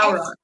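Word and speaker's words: bodhrán: I was gonna say, how did you say the instrument you, Amara, Bodhran? Yeah, Bodhran? like a bowron. Bowron? Bowron? Yeah, Bowron. it's spelled like BODHA. Wait, no, BODHRAN or something. B. Oh, There, I think there's I've a, seen that written, but you yeah, don't say it's the like D? It's like a drum.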